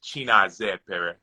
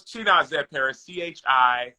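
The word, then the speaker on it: Chinazaekpere: His name is Chinazepere. Say it again. He says it Chinazepere. I'll spell it for you.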